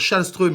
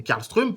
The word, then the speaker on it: Karlström: Pour Karlström, vous allez dire Schallström et non Karlström, parce que certainement, on vous l'a dit.